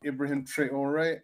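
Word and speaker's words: Ibrahim Traoré: His French pronunciation is um Ibrahim Trayor and um Trayor um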